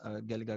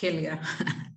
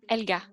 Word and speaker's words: Helga: Vuelvo a acotar, mi nombre es Helga, para pronunciar mejor. Bueno, Oui, je m'appelle Helga, donc juste pour préciser bien la prononciation.